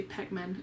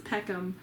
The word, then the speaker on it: Peckham: by caroline peckman and i always say pegmen that's peckham and suzanne valente valenti